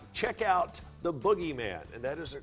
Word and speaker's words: Boogeyman: nailed it there all right check out the boogieman and that is the correct pronunciation it is the boogieman absolutable at a bookstore near you